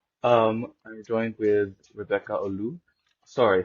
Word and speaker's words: Oloo: ask let's go um I joined with Rebecca Olo sorry how do I pronounce Olo Olo silent okay silent okay gotcha um using but